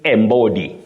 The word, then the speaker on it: embody: spelling system, we see embody, embody. So many people innocently say embody, but that is not the way to pronounce that verb. You say embody, to embody, embody.